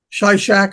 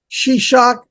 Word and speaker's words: Shishak: Shai Shack or shishun it's pronounced different ways because um depending on where you're from you know tomato tomato um they did the same thing and they they spell these these words the way they were pronounced because it's a a vocal language and so the Scribe would write down what he heard so depending on where